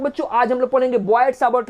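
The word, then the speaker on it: Biot–Savart: बॉयड-सावर्ट लॉ बोलते हैं, T silent होता है बच्चों, बॉयड-सावर्ट लॉ।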